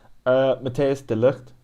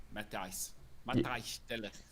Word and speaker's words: Matthijs de Ligt: Matthias de Ligt is Matthijs del Ligt. Matthijs de Ligt.